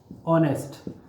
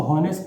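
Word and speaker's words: honest: ये बोला हमने इसको ऑनेस्ट, यही बोलेंगे, कभी भी इसको हॉनेस्ट नहीं पढ़ेंगे, ठीक है।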